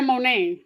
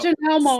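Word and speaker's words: Monét: you always correct me this is Victoria mon not J mon no scissor scissor did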